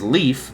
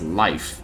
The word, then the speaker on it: Leif: I was pronouncing it as Leif, but no, it's Leif.